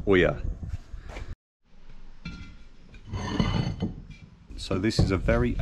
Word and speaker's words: ollas: go at making oers spelled o l l a s but it's pronounced Oya so this is a